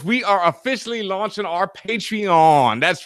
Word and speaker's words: Patreon: patrol mama is Paige is what is not patron this patreon yes you the correct pronunciation of words it may when it was